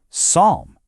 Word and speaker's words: psalm: The P at the beginning, gone, silent. The L in the middle, also silent.